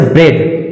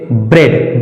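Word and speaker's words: bread: यहां पर साइलेंट होगा उसी तरह से ब्रेड ब्रेड बी आर ई ए डी ई के जस्ट बाद ए आया यहां पर भी जो है ए साइलेंट होगा इसका सही उच्चारण हो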